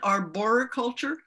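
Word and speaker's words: arboriculture: on the wind shawn is it arbor culture is that how you pronounce the word yes okay i've been practicing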